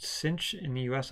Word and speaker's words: sinh: hyperbolic sign is pronounced cinch in the US I've heard that in Europe or the UK it's pronounced shine like the movie it s the H